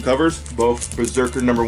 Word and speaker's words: Brzrkr: And this series is called Brzrkr, but it's spelled B-R-Z-R-K-R.